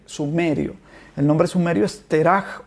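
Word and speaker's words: תרח: Y Nacor engendró a Terach, así se pronuncia en hebreo, Terach, pero que en español es Taré.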